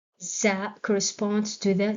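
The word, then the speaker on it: زاي: Za rhymes with ra, and it's also correct.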